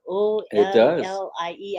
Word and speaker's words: Ollie: Yes, sounds like your name, Ali, but it's spelled O-L-L-I-E.